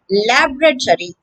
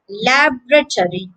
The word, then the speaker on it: laboratory: a scientific laboratory laboratory that's the american pronunciation lab retiree with the stress on the first syllable lab laboratory the british version sounds quite different laboratory laboratory here the second syllable is stressed so the word begins